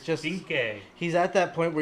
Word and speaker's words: Vinc: Is it incorrect, pronounced but Vink? I don't know. V-I-N-C? Vink Diesel. Vink. Vink. But he But looks great.